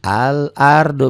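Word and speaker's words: الأرض: maka ada sukunnya tuh Karena ada sukunnya makalamnya dibaca al-ardo beda ini tadi ya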